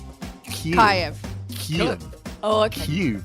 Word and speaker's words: Kyiv: And it's Kyiv.